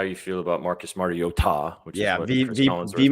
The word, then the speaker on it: Mariota: I said it I texted it last night that regardless of how you feel about Marcus Mariota, which is he mispronounced his name. It's Mario Ta.